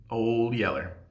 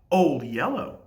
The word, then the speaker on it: Old Yeller: It was a classic, Old Yeller. Soon after the titular Yeller dog was introduced, I noted to my parents that they were pronouncing it wrong, and that it should be Old Yellow.